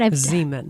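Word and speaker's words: Xeomin: a little difference and benefits of Botox, Nutox, Xyomin, which, am I saying this right? Zeman. Zeman. I don't. Mental block. Mental. It's like, well, because it's spelled with an X and it's a Z, but whatever.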